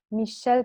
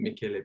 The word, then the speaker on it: Michele: was the, one moment, Michel Pitaluga International Guitar Competition. Yes. Did I pronounce it the right way? I think, or Michele. I think Michele.